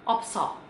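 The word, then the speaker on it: 없어: Nah, kalau ada B sama S, yang dipilih B. Oke? Dipilih B. Jadi kata ini dibacanya opta. Opta. Nah, kalau ketemu sama huruf vokal, dia dibaca dua-duanya. Kayak yang tadi juga, jadinya opso. Opso.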